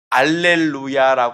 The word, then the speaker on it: 알렐루야: 어떤 찬양이나 말씀을 보면은 알렐루야 이야기하는 것도 여러분들이 볼 수 있을 거예요 알렐루야는 할렐루야의 라틴어 발음입니다 그래서 할렐루야 알렐루야는 똑같은